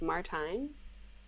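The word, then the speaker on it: Martijn: fabulous and it says my name is martin pronounced like valentine so is it martin anyways he's great he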